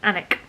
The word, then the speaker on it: Alnwick: the last place i was in was in anik definitely pronounced hammock um i had a great day